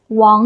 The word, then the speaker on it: 王: And maybe sometimes they will confuse the Wáng sound with the Huáng sound. So, instead of saying Wáng Lǎoshī, maybe they will pronounce it as Huáng Lǎoshī, like teacher Huáng.